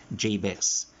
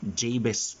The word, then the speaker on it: Jabez: Ang kanyang pangalan po sa Hebreo ay Jabez. Pwede po natin siyang tawaging Jabez kasi nandito man tayo sa Pilipinas. Pero kung gagamitin po natin ang pronunciation ng Hebrew, Jabez po ang kanyang pangalan.